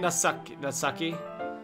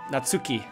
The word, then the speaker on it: Natsuki: Did I keep saying Natsaki? Sorry. I guess that's the Afrikaner in me. Natsuki.